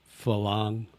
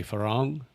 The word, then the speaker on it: farang: So you have to roll your R. I can't roll my R. So a lot of people will say falang, but I say farang because I can't roll my R's.